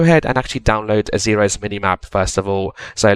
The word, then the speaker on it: Xaero: there and we're going to actually download the xeros a world map as well so in your